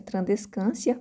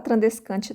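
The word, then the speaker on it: Tradescantia: O nome dela científico é Trandescantia zebrina, escreve Trandescantia, né? Mas a pronúncia é Trandescantia, mas pode falar Trandescantia também.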